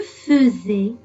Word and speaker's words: faisais: Il faut faire très attention, chers enfants, parce qu'on dit je faisais et pas je faisais. C'est vrai que ça s'écrit avec un AI, mais ça se prononce E.